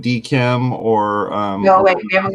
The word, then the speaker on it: DKIM: DKIM, that's not how you say it. It's DKIM.